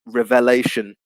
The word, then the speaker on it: revelation: change with revelation and the pronunciation change it goes from reveal to revelation asian obviously the stress